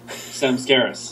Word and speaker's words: Samskaras: How do you say your band? Samskaras. I was right.